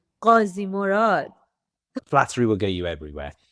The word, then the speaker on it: Ghazimorad: And you just did a great job on that because normally I get this Ghazimorad. Is it Ghazimorad? But you said it perfectly. Ghazimorad.